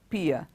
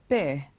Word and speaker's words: pear: PE a are pay it's not piya it is pear the next one is